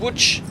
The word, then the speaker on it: Łódź: It's pronounced Łódź.